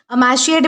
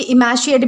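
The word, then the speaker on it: emaciate: अब दोस्तों इसके बाद हमारा अगला वर्ड आता है, इसे जो है वो मतलब कि अमैशिएट भी प्रोनाउंस किया जाता है या फिर मतलब कि इमैशिएट भी प्रोनाउंस किया जाता है, ठीक है।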